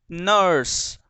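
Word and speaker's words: nurse: यू आर एस ई, नर्स, नर्स। देखो मैंने जितने भी बोले हैं अभी प्रोनाउंस किए हैं, तुम्हें उसमें कहीं भी र नहीं सुनाई दिया होगा, ना मानो तो थोड़ा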